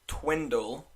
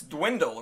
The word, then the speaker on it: dwindle: Yeah, but the teams are starting to, as Paulie, I think, pronounced it, twindle. I rewatched it. I was like, I think he said twindle. It's dwindle, right? Dwindle, yeah. Okay.